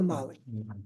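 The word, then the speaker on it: Magli: never bought a Bruno magley huh don't pronounce j Bruno learn something I see Bruno Bruno Mali however the Rama debates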